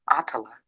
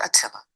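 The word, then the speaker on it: Attallah: first name for us my first name is pronounced atala atala not aing the WNBA baby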